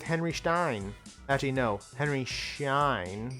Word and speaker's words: Schein: Henry Schein. There's no T in there.